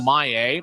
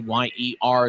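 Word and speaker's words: Mayer: And he's going to be paired up with Samuel May, who's wearing number 95. Ma Yer is his last name, but the Tahoe pronunciation guide says it's May.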